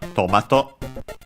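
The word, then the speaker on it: トマト: Okay, accent on the first one, tomato.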